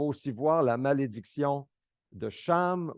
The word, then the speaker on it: Cham: voir la malédiction de Cham ou aussi kam on peut le prononcé C puisque le déluge a